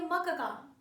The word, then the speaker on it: मक्का: मक्का नहीं पढ़ सकते, आप इसे पढ़ेंगे मक्का, मक्का, क्योंकि क पूरा है तो आप उसे पूरा बोलेंगे भी।